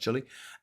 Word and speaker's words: Chile: in uh in um Chile which looks like Chiel but it's pronounced Chile.